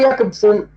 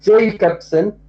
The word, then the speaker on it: Jakobson: Roman Jakobson or Jacobson, we pronounce it yeah because he is a Russian critic. He is not English. So it is pronounced as yeah.